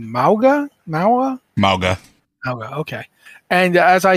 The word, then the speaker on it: Mauga: We've got a new hero coming for Overwatch 2 named, I can't pronounce his name, Mauga? Mauga, okay.